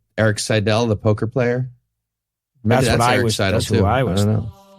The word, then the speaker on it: Seidel: It's Seidel, by the way, not Seidel. Oh, I thought it was despite Seidel, what I'm like, about to say over and over again. Like Eric Seidel, the poker player.